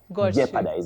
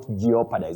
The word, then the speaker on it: jeopardize: but then you realize that the O is silent. You say leopard, not leopad. Jeopardize, not geopad.